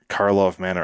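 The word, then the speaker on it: Karlov Manor: of the earth players scrambling for those fresh Karloff Manor.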